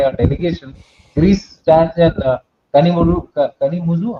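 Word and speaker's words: Kanimozhi: So, yeah, if you see the list of countries being visited by our delegation, Greece stands in Kanimuzu. How do you pronounce the DMK's leader? Kanimuji.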